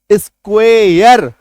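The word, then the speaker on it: square: जैसे कि ARE को इसमें ऐड किया तो उच्चारण देखिए क्या निकल के आ रहा है, स्क्वेयर। ARE जोड़ा, साउंड क्या निकला? यर।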